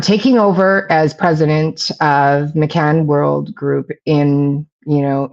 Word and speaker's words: McCann: M C K N I don't know how to pronounce that. McCann, yeah.